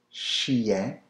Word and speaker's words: chien: The Labrador Retriever in French, c'est le chien. Le chien. Well, of course, chien is dog. Le chien. Chien. Le chien. The I-E-N is always yen. Yen. So if you put the C-H before, chien.